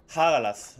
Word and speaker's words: Hagalath: Hagalath. No, hombre. Hagalath, ¿no? Que la H tampoco hay que pronunciarla tanto, ¿no? Hagalath, mejor dicho, ¿no?